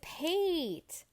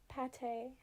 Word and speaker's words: Pate: it oh is it it is pete the little duck he's cute it's pronounced pate oh i feel like a fool like the food yeah no that makes